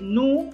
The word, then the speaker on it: nous: So just say nu, N-O-U-S, S is silent, last S is silent,